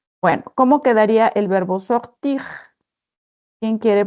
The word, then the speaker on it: sort: Je sors, tu sors, il sort. On ne prononce pas le T.